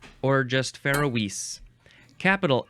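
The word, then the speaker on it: Faeroese: fun yeah sound effect the next word is Fise or just Fise capital f a e r o e s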